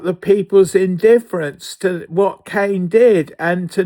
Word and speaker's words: Cain: Cain wasn't a punisher. He was a murderer. Cain was given the name Cain, like Cain, C A N E, but it's spelled C A I N.